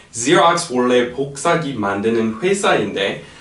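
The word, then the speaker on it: Xerox: the food 오케이 그다음에 Okay so zerx 발음은 그냥 zx 하면 돼요 zx 원래 복사기 만드는 회사인데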